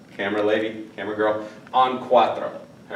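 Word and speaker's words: cuatro: important because later on some people are going to confuse quro quto okay quto does quto with an R does mean fourth but quatro is the number four and it is spelled like this then the other one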